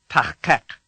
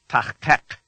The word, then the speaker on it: Tachkek: You make it like a K, but, as you did for shove the back of your tongue as far back into your mouth as you can.